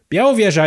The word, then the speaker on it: Białowieża: know what you know what i'm talking about biauro vieja is uh one of the last and the